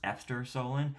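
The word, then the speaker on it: Efter solen: I've heard it pronounced both ways, but I'm going to pronounce it Eftersolen. I've also heard it pronounced Eftersolen. It's Swedish for After the Sun.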